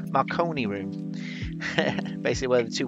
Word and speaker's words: Marconi: can't say it like I was gonna say macaroni it's not macaroni Marconi room basically where the